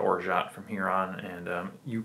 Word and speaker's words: orgeat: i call it organ some people call it orja or orgay i'm just going to call it orjat from here on and